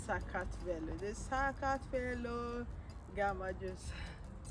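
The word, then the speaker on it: საქართველო: also have universities sakatv georgia as a country is pronounced as sakatvelo the sacred fellow gamma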